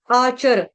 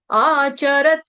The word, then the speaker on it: आचरत्: आचर, इसको आचार नहीं पढ़ना, आम का आचार नहीं है ये। आचरत, आचरण वाला है, ठीक है। आचरत, आचरत, च जो होता है ह्रस्व होता है, इसीलिए फटाफट हमको रत बोलना है, रत।